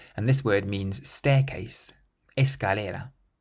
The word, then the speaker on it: escalera: Escalera. Escalera. So the C is followed by an A, meaning it's pronounced like a K, and this word means staircase. Escalera.